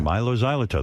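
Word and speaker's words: Mylo Xyloto: the new album how do you say it's Milo Xyloto Milo zyo yeah Milo Xyloto that's a tongue twister who are you hanging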